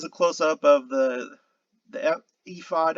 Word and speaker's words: ephod: close-up of the the ephod i think it's pronounced ephod the ephod of the high